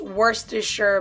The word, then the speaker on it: Worcestershire: It's pronounced Worcestershire, but you spelled it Worcestershire, so I don't know what you're on, Mark.